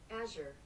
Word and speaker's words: Azure: Now, I'm going to guess before I play this, but Azure. Okay, let's see if I'm right. Oh, of course, I have my sound off. Azure.